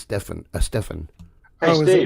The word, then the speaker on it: Estefan: Just like Gloria Estefan, everybody said Estefan and it's Stefan.